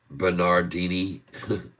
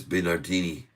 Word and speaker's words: Bernardini: Bernardini. I said it wrong. I said Bernardi. It's Bernardini. Bernardini.